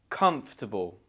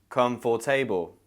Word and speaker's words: comfortable: That's right, the O after the F is not pronounced. We can't hear it. It's just comf. Comfortable. Again, you have that schwa in the middle because it's unstressed. So comf. Just push through that F sound.